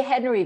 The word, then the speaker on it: Henri: I believe it would be pronounced Henri because it's H-E-N-R-I, right? I say Henry because I figure he's in the Bay Area. Who's really going to call him Henri?